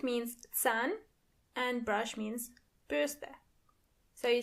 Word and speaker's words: Bürste: And remember, you don't pronounce the R as R, but more like R. So the word is die Bürste.